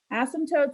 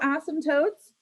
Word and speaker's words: asymptotes: So asymptotes actually have a silent P in there, by the way.